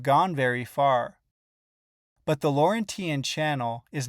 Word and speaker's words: Laurentian: Okay, now let's discuss the depth of the Laurentian Channel. Hold on, I'm getting word it's pronounced Laurentian.